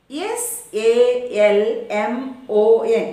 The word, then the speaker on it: salmon: in a particular law then one more word s a l m o n it is a fish and what is it or how is it pronounced then c-a-l-m it is com b-a-l-m it